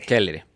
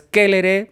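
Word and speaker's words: Celeres: hablaba el buen Cicerón, se dice kere. Kellere. Okay. Y siempre las palabras generalmente son graves. Entonces por eso es kélere. Por eso es, por ejemplo, tities, Ramnes, etcétera. Okay. Ya. Con la sílaba tónica al principio.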